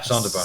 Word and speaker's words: Sonderbar: Sonderbar? Is that how it's pronounced? That's the one. It's German. Sonderbar? Yeah, Sonderbar. Sonderbar. Sounder. We always pronounce it like that. It's a play on Wunderbar.